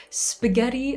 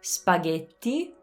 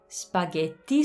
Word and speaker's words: spaghetti: i can't even say it it's so painful spaghetti bolognese now the reason it says painful don't get offended like i used to pronounce this way it's just that once you